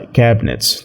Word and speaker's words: cabinets: وخلي بالك من كلمة cabinets، احنا عديناها كده بس هي بتتنطق cabinets.